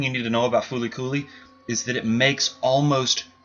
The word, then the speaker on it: FLCL: you need to see it's called Fooly but it is spelled l l c it's in Japanese of